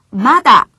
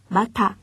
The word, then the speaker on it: まだ: 자, 발음에 주의를 하셔야 되겠는데요. 마다, 땡땡이 붙어 있죠? 하이. 아직이란 뜻이 되는데, 선생님 만약에 はい。 땡땡이 없고 마타 하면 어떻게 될까요? 뜻이 전혀 다르겠죠? 하이. 마타라고 하면 또라는 뜻이 됩니다. 따라서 아직이란 뜻으로 말을 할 때는 땡땡이 붙어있는 마다라고 발음을 한다는 것도 기억해 주세요.